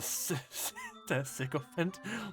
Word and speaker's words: sycophant: He's a sycophant. What is that again, actually? I want to know, but the third option, the spineless chump. Oh yes, definitely, definitely, yes, definitely. What's a sycophant? Sycophant rhymes with elephant.